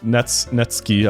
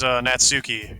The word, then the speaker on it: Natsuki: Because I was thinking like the way that Ari said Netsuki, I was like, oh, I'm pronouncing it wrong. The game pronounced it that way. I'm like, wait a second. Anyway, this is Natsuki, energetic as usual, small.